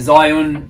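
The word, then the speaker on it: Zhiyun: It's a Zion, which I would have mispronounced, Weeble S.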